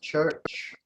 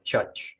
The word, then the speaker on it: church: um uh ch is church uh one thing about the pronunciation of African uh seminal Creo is that you don't sound the RS after vowels so it's Church not church um da or Dar